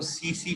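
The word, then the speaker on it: tsetse: Sleeping sickness cause करते हैं, ठीक है, वो सीसी फ्लाई के जरिए ट्रांसमिट होते हैं। TSE उसके स्पेलिंग है सीसी फ्लाई, ठीक है, वो उसका ट्रांसमिशन के लिए इंसेक्ट वेक्टर है।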